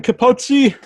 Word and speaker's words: Capozzi: We have composer here, Capozzi. How do you say the last name? Did I say it correctly? You did, if you were going to pronounce it in the Italian way, yeah.